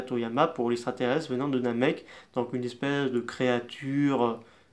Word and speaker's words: Namek: débats là-dessus, alors que ça s'écrit avec un K à la fin, donc on dit bien Namek, le K à la fin.